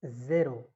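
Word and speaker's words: zéro: 0 is zero. Z-E-R-O. On E there is an acute accent. Zero. That's why I am pronouncing E as A.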